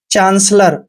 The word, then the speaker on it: chancellor: दोस्तों CH का उच्चारण यहाँ पर हम च करते हैं, ए को आ की मात्रा पढ़ते हैं, और एन का उच्चारण आधा न करना है, CE का उच्चारण श करते हैं, डबल एल का उच्चारण ले करना है, OR को रे पढ़ना है।